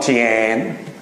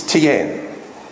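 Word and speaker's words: 天: It's not Tian. That's how the Australians would say it. It's Tian.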